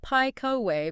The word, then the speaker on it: Piecowye: Okay, but before we get too far, for anyone whose brain is stuck on those syllables, it's Piecowye.